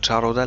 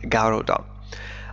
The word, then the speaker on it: Garuda: قالت شركة النقل carrier شركة نقل الوطنية national الإندونيسية والتي اسمها جارودا، عفوا نطقتها من قبل جارودا لكنها تنطق جارودا، أخبرت شركة بوينغ has